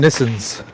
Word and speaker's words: Nissan: those we call them nissans yeah we don't we don't say nissans we call them nissans oh because it's not not japanese pronoun no the japan the japanese pronunciation is nissan yeah nissan yeah it's